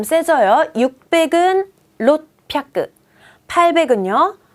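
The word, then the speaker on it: ろっぴゃく: 초금으로 바뀌면서 뒤에 발음 세져요. 600은 롯뼈끄.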